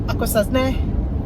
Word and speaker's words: Akwesasne: They go Akwesasne.